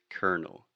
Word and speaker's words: colonel: So this is a perfect example of how in English we do not pronounce the things that we write in the same way.